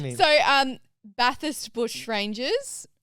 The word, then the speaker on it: Bathurst: I thought it was Bathurst. Yeah, correct me. So, Bathurst Bush Rangers, not Bathurst. Yeah, right. You're giving the H a little bit too much love.